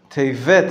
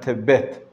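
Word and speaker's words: טבת: Tevet it should be, not Tebet. Tevet.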